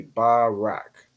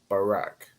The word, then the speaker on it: Barak: So it's Ba, Ra, and then Ka. The Ra and Ka join to make Rak. So it'd be Barak. Barak.